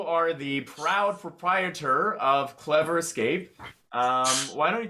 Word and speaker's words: CleVR: normally have um but we're called clever which is spelled c-l-e-v-r because we also have